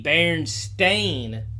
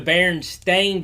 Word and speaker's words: Berenstain: of people remember the berenstain bears bearing the berenstain bears no we actually we all pronounce it bernstein bears but what you're referring